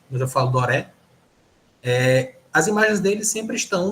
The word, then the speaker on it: Gustave Doré: como o pessoal fala, acho que dizem a pronúncia certa, que é Gustave Doré, mas eu falo Doré.